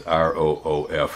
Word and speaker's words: roof: bark at me for how i pronounce roof like a dog yeah it's r-o-o-f that's what i'm saying roof i think is the way the rest you pronounce roof it's like crick pumpkin